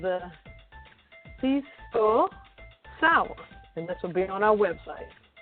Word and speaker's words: Pisco Sour: It's called the Pisco Sour. Did I pronounce that right, Redwine?